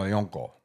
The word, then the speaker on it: Yonko: How do you pronounce it? Oh, Yonko.